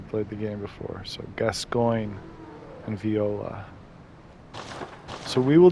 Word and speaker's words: Gascoigne: And the only reason I know how to pronounce that is because obviously I played the game before. So Gascoigne and Viola.